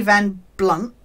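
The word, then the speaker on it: Van Blundht: Darren Morgan, he's been cast as Eddie Van Blunt with a silent H, as this loser who can't get women.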